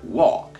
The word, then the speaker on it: walk: muito importante de inglês walk você não pronuncia o l então vira ló slowly vol slowly uol